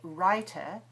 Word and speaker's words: writer: So where the British would say writer, he's a writer, in Americans say writer.